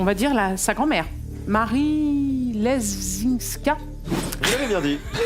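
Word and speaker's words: Leszczyńska: Marie Lesinska. Vous l'avez bien dit. On peut le prononcer à la française aussi, hein. Lesinska, si vous voulez.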